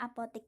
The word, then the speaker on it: apotek: kedua adalah apotik penulisan apotik itu tidak baku yang baku yang benar itu adalah Apotek Tapi bacanya bisa e ini ya biasanya Apotek gitu Yang yang kita Ubah